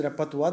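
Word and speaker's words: repertoire: i r repa repa that's a French word the pronunciation is repa the spelling is r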